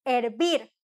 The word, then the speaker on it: hervir: su pollo de bien viene del verbo hervir tuvo con h aunque no pronunciamos la h al vapor issste y